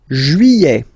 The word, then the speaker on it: juillet: Juillet. Okay, you get this double L here. Juillet. Juillet. Don't pronounce this final T, E-T here at the end. E.